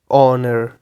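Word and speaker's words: honour: से such as इन the word honest honesty ऑनर इस तरह के वर्ड्स ठीक है देन साइलेंट एल आ जाता है द लेटर एल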